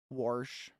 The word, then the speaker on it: wash: another for example there's a whole dialect in U.S English that pronounce wash as though it was warsh we don't talk about